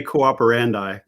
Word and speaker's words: Cooperandi: bit about this name we say cooperandi uh but uh they're both correct uh uh would be